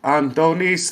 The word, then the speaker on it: Antonis: okay so uh i my name is antonis that's it the greek pronunciation and you can call